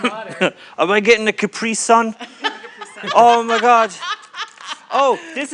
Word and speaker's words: Capri Sun: with the capri sun and i know it's pronounced capri sun i'm being funny don't make fun of me